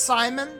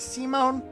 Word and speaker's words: Simone: I know it's pronounced Simon. It looks like it should be Simon, but it is Simone.